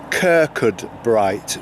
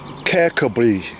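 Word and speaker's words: Kirkcudbright: Sign saying that uh the English way of pronouncing this is Kirkwood bright which is exactly as it's spelled but as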